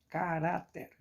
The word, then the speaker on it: caráter: Por exemplo, caráter, caráter. Qual a mais forte? O rá.